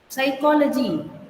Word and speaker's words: psychology: this first word, psychology, it is like psychology. The piece will become silent.